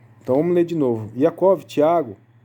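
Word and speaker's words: יעקב: Iacov, Yohanan, Filipe, Bartolomé, Matitiarro, Tomá, né? Esse é o nome dos 12 apóstolos. No nome pronunciando em Israel, em hebraico, tá? Então vamos ler de novo. Iacov, Tiago, Yohanan, João, Filipe, né?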